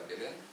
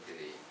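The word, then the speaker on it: Belém: Пишется он Белен, читается по правилам португальского языка Белен, но бразильцы его несколько модифицировали, поэтому произносят город как Белей.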